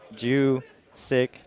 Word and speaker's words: Juszczyk: Technically, it is Juszczyk, but it kind of blows a lot of people's minds that the J is silent. Yes. But Juszczyk.